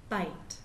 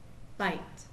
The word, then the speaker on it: bite: But how many vowel sounds do you hear? Bite. Bite. Right. You only hear one. You still hear the I. It makes the I sound, but the E on the end is silent. It does not make any sound at all.